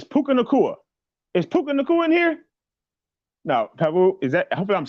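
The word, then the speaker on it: Puka Nacua: and bride did I say right Pabu it's puka nakua is in here I'm saying it correctly lessons what's happening thank you for stepping up welcome to platform 246.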